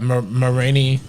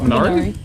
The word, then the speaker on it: Minari: and I'm not even gonna come close to pronouncing the name correctly, but the Marini Best Supporting Actress recognition for Yeon Jung. You talking about Minari?